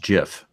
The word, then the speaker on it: GIF: yourself from that point yes I believe it's pronounced jiff sure sorry that the bear who brought you